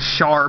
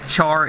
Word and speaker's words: Char: And then for the heavy tanks, they have the Panzerkampfwagen B2-740, which is actually the Char B tank. People think it's the Char, it's Char, pronounced like an SH.